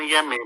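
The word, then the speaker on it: Onyeme: Or they have the word spelled is N-N-N-Y-E-M-E, O-N-Y-E-M-E, on Yeme, but they don't pronounce the O and the N.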